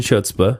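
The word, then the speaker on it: chutzpah: filled with advice and chutzpa hutzpah I said I said it right the first time ask him anything and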